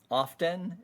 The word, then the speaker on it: often: This is often, and often is accepted. The T is usually dropped in American English, and I think when